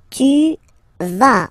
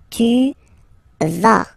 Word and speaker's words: tu vas: Tu vas. Final S doesn't exist. Tu vas.